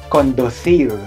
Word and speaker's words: conducir: Okay, so the letter C is pronounced as okay, conducir.